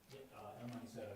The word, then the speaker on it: El Manicero: How do you pronounce that, Dan? El Manicero? El Manicero, yeah.